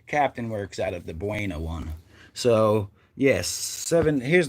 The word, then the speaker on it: Buena: troop a barracks headquarters or whatever and uh buena new jersey all right which is this number here which is actually pronounced who hung up on us little cowards buna and this is where the guy that arrested